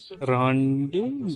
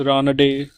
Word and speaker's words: रानडे: रांडी, गांधी और जिन्ना। Well, I'm pretty sure it's pronounced रानडे, Gandhi और जिन्ना, बट I'm telling you, बहुत से लोग उसको ऐसे नहीं पढ़ेंगे जैसा ये लिखा हुआ है।